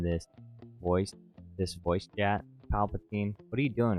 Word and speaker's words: Palpatine: why are you getting on my ass about pronouncing it wrong, too? I I'm not. No, that's not it. Uh, Emperor Palin, get a hold of your words before you speak them, Jack. Emperor Palpatine says, "I had my feet on yesterday and